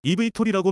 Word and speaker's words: eVTOL: 발음은 eVTOL이라고 말합니다.